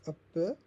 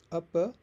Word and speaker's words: apa: The last vowel often becomes a softer schwa. So apa becomes apa.